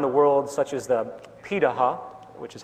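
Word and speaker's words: Pirahã: hunter-gatherer societies around the world such as the piraha which is how its pronounciating out of Brazil amazingly it appears that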